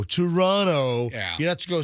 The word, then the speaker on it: Toronto: that time for saying toronto and i was told you don't pronounce the second t it's it's toronto toronto yeah you have to